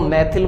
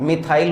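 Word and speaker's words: methyl: अपन हिंदी वाले लोग हैं वो मैथिल बांचते हैं, इंग्लिश में प्रोनाउंसिएशन इसका मिथाइल होगा, तो मिथाइल हैलाइड हो गया।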